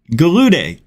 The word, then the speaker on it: Gallaudet: Gallaudet.